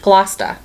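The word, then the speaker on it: Gloucester: boring for you guys um so this is pronounced GLA okay so there you go so if you're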